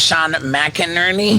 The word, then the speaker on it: McInerney: Sean McInerney? Yep. Sean. Did I say it right? Yeah. Wow. Yeah, good job. Retention. It's like 2 names, Mac and Ernie.